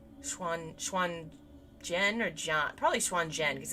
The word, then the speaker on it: Xuanzhen: I've only recently learned that Z's are J's. Xuanzhen. Xuanzhen or John?